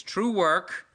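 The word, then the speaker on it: TruWork: It's True Work, spelled like twerk.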